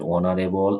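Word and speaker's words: honourable: যাই হোক, তো ফ্রেঞ্চ ভাষায় বাইক শব্দের প্রথমে এইচ থাকলে উচ্চারিত হয় না। এই শব্দগুলো যেমন আওয়ার, অনেস্ট, অনারেবল, এই শব্দগুলো সরাসরি ফ্রেঞ্চ ভাষা থেকে ইংরেজিতে এসেছে। এখন ইংরেজিতে যেহেতু এসেছে, এই কিন্তু উচ্চারিত হয় না, এটার উচ্চারণ কি হয়? Vowel sound.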